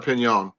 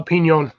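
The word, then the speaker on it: piñon: p or Pinon a Pinon the N is kind of pronounced with like a emphasis of like a y so it's p the or sorry the O has the emphasis of like a why it's weird it's because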